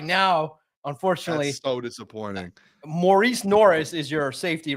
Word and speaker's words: Maurice Norris: It's not Morris Norris, but that's how we all call him, right? Maurice Norris, if that's the accurate way to say his name, is the guy.